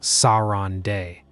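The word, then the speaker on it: Sarandë: Specifically, a coastal town in the far south called Saund, pronounced Sauron Day.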